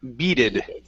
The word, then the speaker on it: beaded: have the word beaded give me a good long e sound beaded be Beed good so